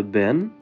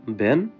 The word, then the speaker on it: Wenn: প্রথমটা হচ্ছে ব্যান, দ্বিতীয়টা হচ্ছে দান। এখানে ডাবলিউ কে ভি এর মত করে উচ্চারণ করা হয়। তাই আমি এটাকে বললাম ব্যান এবং দ্বিতীয়টা হচ্ছে দান।